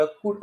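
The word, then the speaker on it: could: सारखेपणा आढळत नाही म्हणजे इथे कुड एल जरी असला तरी कुल्ड असा त्याचा उच्चार होत नाही त्याचा उच्चार स्पष्ट कुड असा होतो सी ओ यु एल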